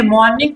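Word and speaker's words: morning: इसको आप लोग देखिए, मॉर्निंग कभी भी इसे आप मत बोलिएगा, इसमें आर साइलेंट करके बोलिए।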